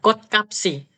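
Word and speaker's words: 꽃값이: gapsi jogem bisem bukan kot gapsiak enggak boleh kotka bacanya kot kapsi kot kapsi Heeh kenapa kok bacanya ka karena sebelum Bunyi gioknya itu Yang k itu di bawahnya ada huruf ch ch itu mati kan matinya apa t k he Heeh makanya Bukan kotga tapi kotka kapsi k kapsi gitu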